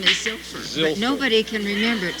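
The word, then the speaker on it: Zylpher: tell you my real name my name is ziler but nobody can remember it so why he call me we spell that z y l p h e r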